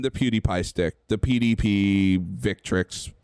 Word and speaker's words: Victrix: On Quamba and the PewDiePie stick, the PDP Victrix. I know I said it wrong, but I keep thinking it's pronounced Vectrex for some reason. It's not.